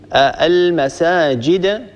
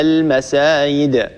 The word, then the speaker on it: المساجد: من الأخطاء قلبها ياء، يعني أن نقلب الجيم ياء وأن نبدل الجيم ياء. مثلا المساجد، البعض ينطقها المسايد، طبعا قد هذه الأخطاء